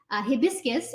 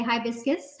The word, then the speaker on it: hibiscus: But hibiscus in particular, because like Amla, which is Indian gooseberries, hibiscus, or maybe you say hibiscus. Tell me in the comments which way you pronounce this. I think both are acceptable.